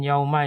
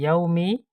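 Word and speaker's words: يوم: Ya, ini bukan yauma ya, tapi yaumi.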